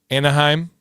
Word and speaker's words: Anaheim: And so, yeah, it's pronounced anheim. What was I saying? Anaheim.